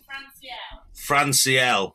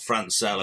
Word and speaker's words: Franciel: Franciel, not Francel, apparently.